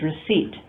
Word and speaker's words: receipt: In a word like receipt, there is no P that's pronounced. That's simply a spelling convention. The pronunciation is receipt.